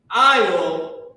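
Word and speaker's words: על: I'll Yaham. I'll. Who knows what I'll meant? Remember when you're walking down the aisle? That's how it's pronounced.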